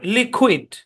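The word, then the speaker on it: liquid: ইউ আই ডি হ্যাঁ এই শব্দের উচ্চারণ লিকুইড ইড এটা হচ্ছে লি লাই হবে না কারণ মাল্টিস্লেভিক ওয়ার্ডে আই এর সাউন্ড সাধারণত শর্ট হয় লি ইড আর মাঝখানে হচ্ছে কুয়েট লিকুইড লিকুইড লিকুইড মানে হচ্ছে তরল আমরা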